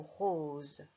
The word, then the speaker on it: rose: Et voilà, on remarque que notre rose fait le son Z, car le S est entre le O et le E.